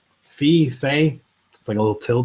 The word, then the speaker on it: Fe: think it's going to be hard one to spell it's apparently it's just f e fee they put a little till date at the